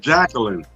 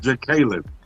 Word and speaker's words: Jacqueline: Well, you said you said Jacqueline, but her name is actually pronounced Jaclyn, right?